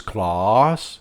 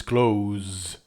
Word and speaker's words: cloze: PW: first question maybe He pronounces "clause, claws" I don't know why perhaps in British English is like this, but least in American it's cloze delition there's a voicing that he's not doing.